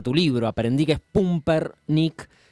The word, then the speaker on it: Pumper: lo que nos dé que era Pumper y no Pamper.